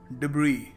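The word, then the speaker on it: debris: डिब्री, डिब्री, जी हाँ, इसको सही तरीका है प्रोनाउंस करने का, डिब्री। और लोग क्या कह देते हैं भोलेपन में, देखिए ज़्यादातर लोगों को पता नहीं होता कि इसको सही तरीके से प्रोनाउंस करने का तरीका क्या है। सो वो जो देखते हैं वो बोल देते हैं डिब्रस लिखा हुआ है, मैं डिब्रस ही बोलूँगा सर।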